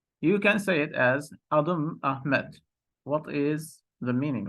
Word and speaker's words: Adım: So it's adım, not adim, but maybe we will try to represent it here.